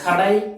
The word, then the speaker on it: Kadai: So this Kadai means shop in Tamil. So you have to pronounce this as say K-A-D-A-I, Kadai, Kadai. So you have to pronounce this as Kadai, K-A-D-A-I, Kadai means shop in Tamil.